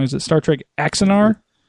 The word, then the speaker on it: Axanar: Now, tell me if I'm pronouncing this wrong. Is it Star Trek Axanar? Axanar, yeah.